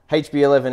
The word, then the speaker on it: HB11: absolutely okay so the The Venture is called hb11 yeah am I saying it correctly hb11 energy yeah uh and it's about Fusion nuclear